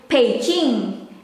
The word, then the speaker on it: Beijing: mandarin or chinese language the letter b is pronounced as p that's why the beijing it's more into peaching and this one i